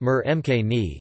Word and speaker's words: murgh makhani: Butter chicken or murg makhani (Hindi: murga makhani, pronounced mur mkni) is a dish originating from the Indian subcontinent of chicken in a mildly spiced tomato sauce.